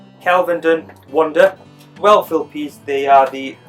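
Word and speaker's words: Kelvedon Wonder: Again, let's go for the pronunciation. It's actually called Kelvenden Wonder.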